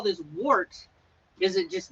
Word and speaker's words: wort: I believe it's pronounced wort, like wort, W-E-R-T, but it's spelled W-O-R-T, like a wort.